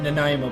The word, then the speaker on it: Nanaimo: This is Cooking with Canadians, and today we're gonna make Nanaimo bars.